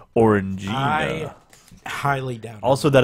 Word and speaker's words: Orangina: You learned Thing it's is, pronounced I Orangina. highly doubt it. Also, that it's pronounced Ruta. All Orange right. Gina. Stop. Orange Gina till I Stop.